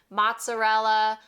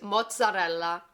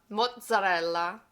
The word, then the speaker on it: mozzarella: And it sounds a little straightforward, but most people forget that double Z, which gives it a little zing. I've heard this pronounced a lot of different ways, ranging from mozzarella, mozzarella, muzzi.